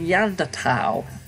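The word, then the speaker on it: Neanderthal: lectures you use the yonder towel I've always heard it to bow as in the under foul is it a preference a preference and there's no H sound when it comes when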